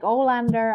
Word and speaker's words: Alander: alter egos and that most people don't know how to pronounce my name, and it's just like Alander most of the time. Like after it was once spelled like Arlanda in Germany, like the airport in Stockholm, I was like, okay, this hurts. I'm not gonna even try to like pronounce it as it's actually pronounced.